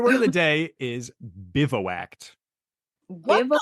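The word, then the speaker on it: bivouacked: day is your word of the day is bivo act Biv is what is that bivo act it's spelled b i v o u a c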